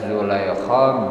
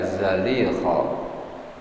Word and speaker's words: Zulaikha: Bisa dibaca Zulaikha, bisa dibaca Zalikha.